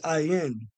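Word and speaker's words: עין: So, when you look up the eye in the Hebrew, it takes you, the Hebrew word for eye is ayin. Remember, they'll tell you the character is pronounced ayin, but it's his own word.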